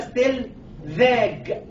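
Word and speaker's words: Stellwag: اللي وصف الكلام ده باشمهندس اسمه ستيل فاج، وعشان ما تغلطيش في نطق اسمه سميناها تي 2 في عشان تبقى ستيل فاج.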